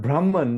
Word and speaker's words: Brahman: The last N is not pronounced.